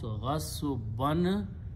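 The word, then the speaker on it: غَصْبًا: And whenever you have two fathas there, you add an alif in there and pronounce ghasban. When you stop, you pronounce ghasba by force.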